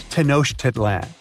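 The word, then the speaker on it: Tenochtitlan: It's Tanosh Titlan. And Mayan cities are hard to pronounce too.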